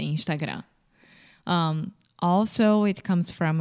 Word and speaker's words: Instagram: make when they say Instagram well I think that with the final m in Portuguese we don't close our mouth so we say Instagram without closing the mouth